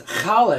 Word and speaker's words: challah: 72 what kind of reg making I'm making challah bread it's kala is the actual pronunciation it's an egg bread a traditional Jewish